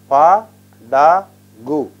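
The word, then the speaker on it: படகு: This will be pronounced as Pa, Da, Gu. Pa, Da, Gu is a boat.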